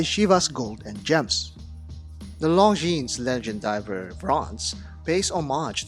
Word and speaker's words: Longines: S at the end of Longine is silent, so do not pronounce it Longine. Let's talk about Longines Legend Diver Bronze.